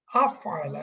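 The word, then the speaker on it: أفعل: 4 নম্বর derive form হচ্ছে ফাআলার আগে একটা আফআলা, একটা হামজা অ্যাড হয়েছে। কি অ্যাড হলো? ফাআলা মনে আছে, একটা হামজা অ্যাড হয়ে 4 নম্বর ডিরাইভ হলো। তাহলে এটার উচ্চারণ হচ্ছে আফআলা, আফআলা।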